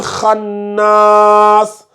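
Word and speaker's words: الخناس: Donc, charril waswasil khannas. Ici aussi, il y a la shadda, donc on fait attention. C'est comme si tu as khan et nas.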